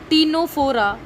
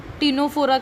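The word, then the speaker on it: Ctenophora: First is Porifera, second is Coelenterata, third I am writing टीनोफोरा, टीनोफोरा का सी silent है.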